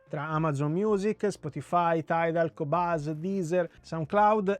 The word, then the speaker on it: Qobuz: Qobuz sarebbe Qobuz, che si pronuncia Qobuz.